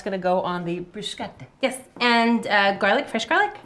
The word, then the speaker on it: bruschetta: And it's bruschetta. Bruschetta would be the Italian pronunciation, not bruschetta.